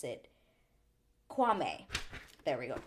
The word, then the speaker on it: Kwame: certain way for me to remember how to pronounce it Kwame there we go Kwame so we meet Chelsea and Kwame first and